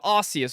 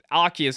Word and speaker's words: Arceus: I want to play the new Pokemon game that comes out, the Legend of Arceus, or Arceus, however you want to pronounce it.